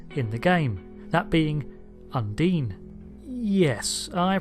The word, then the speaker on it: Undine: the game that being Undine yes I pronounced it undying repeatedly even though it's supposed to be Undine and the reason for that